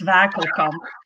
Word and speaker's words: Wakelkamp: So it's, well, in Dutch it's Wakelkamp.